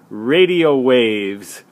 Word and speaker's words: Radiowavz: It's produced by a company called Radiowavz, but it's spelled radio and then W-A-V-Z, Radiowavz.